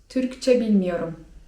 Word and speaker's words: Türkçe bilmiyorum: anlamadym) A z kolei jeżeli chcemy powiedzieć, że nie mówimy po turecku, nie znamy tureckiego to możemy powiedzieć: Türkçe bilmiyorum (czyt. türkcze bilmijorum) Kolejne ważne słówko przy tej okazji, które powinniście znać jeżeli wybieracie się do Turcji...